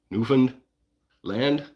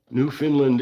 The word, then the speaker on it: Newfoundland: because that's how I've always pronounced it. And it's Newfounded, right? Nofund Land. Okay. So that is correct according to a Newfoundlander. who has yet to send me a pineapple pop from Newfoundland. New Finland is a common misprononunciation, but New Finland is